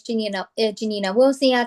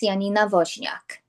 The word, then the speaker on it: Janina Wozniak: As San said, my name is Janina Wozniak. I'm an agent with Future Home Realty. I'm actually bilingual in Polish. So for the Polish community, my name in Polish would be pronounced Janina Wozniak.